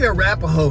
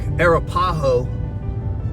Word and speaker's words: Arapaho: For those of you that don't know exactly how they pronounce that, they say Arapjo here in Texas. I'm from Arizona. It's more like Arapaho, but this is some streets that I haven't been down in a couple of years.